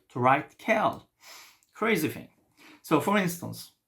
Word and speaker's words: quel: Quel, quelle, quelle, quelle. Yes, it's the same. The pronunciation is the same.